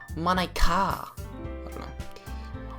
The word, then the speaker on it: Monika: something like it's not that's not how you say my name at all it's Nico it's Monica also that joke makes